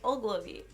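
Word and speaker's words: Ogilvie: It's Ogilvy. Yeah. Ogilvy? Ogilvy. Yes. The train station. The train station. The train station. Anyway, it was so good. Back in the good old days, Ogilvy, that used to be our main transportation to the city.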